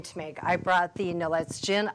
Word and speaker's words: Nolet's: I brought the Nolet's gin. I believe it's pronounced Nolet's. It could be Nolet.